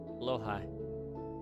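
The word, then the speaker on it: Blåhaj: Is that how you pronounce that? Huh. Yeah. Oh. Blowhigh.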